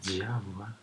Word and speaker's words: Java: Se pronuncia Yawa, Yawa.